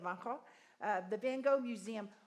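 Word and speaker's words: Van Gogh: We have the Van Go Museum. Vangho, that's how you say it. Vanho.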